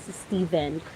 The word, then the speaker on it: Steven: You pronounce it Steven, not Steven or Stephen. Steven. Steven. You pronounce Steve. That Stephen. The correct pronunciation for that is Steven.